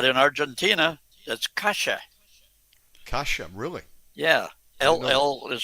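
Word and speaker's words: calle: You said cay whatever. C A L L E. Not in not in Argentina. That's Kasha.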